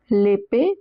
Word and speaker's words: l'épée: L'épée, both the e's have accent aigu on top, so they are pronounced as a.